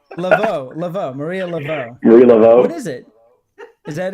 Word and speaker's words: Marie Laveau: Maria LeBeau. Laveau. Maria Laveau. Marie Laveau.